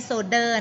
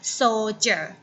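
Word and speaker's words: soldier: ให้ ให้ อ่าน แล้ว ไม่ ใช่ โซเดอร์ นะ นัก เรียน เห็น ตัว ดี นี้ ออก เสียง เป็น ตัว The ไม่ ใช่ นะ โซ เจอร์ SOJA หมาย ถึง จะ หา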